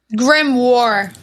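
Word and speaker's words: grimoire: of course of course it's Grim Grim War is really I think how you say it Grim War okay I'm gonna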